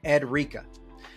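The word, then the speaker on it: Edureka: pronounce the Channel's name it's spelled like Eureka but has a D in the middle I kind of put it together it's an education channel so edrica hopefully but it doesn't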